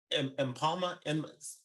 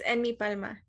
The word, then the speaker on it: Enmipalma: Was it Impalma? I'm probably butchering it, but how do you say it? um, it's Enmipalma.